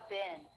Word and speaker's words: been: Notice how bin, spelled with two E's, is actually pronounced with the I as in sit vowel.